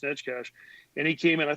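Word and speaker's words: Neckar: of Stan nkh it's spelled Necker but it's pronounced netcash and he came in I thought he played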